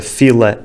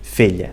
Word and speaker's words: fila: Os sotaques das ilhas também não levam pontos porque também trocam a pronúncia da consoante L, transformando-a muitas vezes em lhe. A palavra fila e filha são palavras diferentes, mas nas ilhas ficam as duas filha.